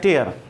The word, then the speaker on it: tier: और आंसू की बात करें तो TEAR टीयर आंसू होता है और एक TIER भी होता है जो लास्ट क्लास में मैंने आपको बताया था। उसका मतलब भी उसका प्रोनाउंसिएशन भी टीयर होता है, लेकिन उसका मीनिंग होता है रो या लेयर, कतार।